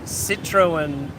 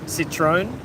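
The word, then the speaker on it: Citroën: it had Vietnam's first Citroen I think that's how you pronounce it citrone dealership um and presumably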